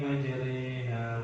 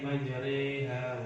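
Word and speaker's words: مجريها: Setelah roh kayak ada huruf ya. Ya. Itu bacanya waqala rakabu fiha bismillahi majriha wa mursaha. Bismillahi majriha wa mursaha.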